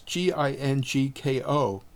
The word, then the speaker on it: Ginkgo: Second, inside the Ginkgo app, that's Gingko, is a score template. Score is spelled S-C-O-R-R-E, and that template is really very good.